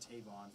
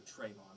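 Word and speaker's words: Travon: over our drafts so far um i had tavon first or trayvon sorry my bad i always say his name wrong i had walker he fits detroit he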